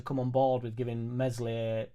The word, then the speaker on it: Meslier: Jack, what does it need for you to come on board with giving Meslier silent S the elbow, hologram hands?